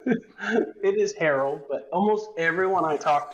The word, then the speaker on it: Harrell: do you say your last name it is harold but almost everyone i talk to takes this